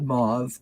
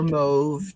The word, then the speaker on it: mauve: of the Glorious purple it's called mauve or move depending on how you want to pronounce it and the card